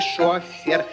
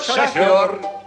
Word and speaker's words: шофёр: Шор или шофер водитель когда мы на машине Летим во весь опор то нас везёт не шофер А нас везёт шофёр шофёр он любит дело